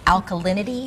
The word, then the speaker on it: alkalinity: And you were talking about, pardon me if I get the word wrong, alkalinity?